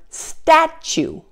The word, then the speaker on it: statue: Now there are also a few other common words where the T is pronounced as CH as well. For example, the word century, the word statue, situation, and the word fortune and its related forms.